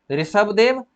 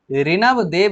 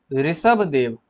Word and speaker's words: ऋषभदेव: जैन धर्म के पहले तीर्थकर थे ऋषभदेव, 23वें तीर्थकर थे पार्श्वनाथ। ठीक है, यहाँ पे स्पेलिंग मिस्टेक है, ऋणव देव लिखा हुआ है, एक्चुअली में होता है ऋषभ देव। क्या होता है? ऋषभ देव होता है।